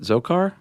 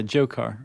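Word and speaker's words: Dzhokhar: And then the one, I guess, is that Zokar? The D is silent, right? Yeah, Jokar or Jokar.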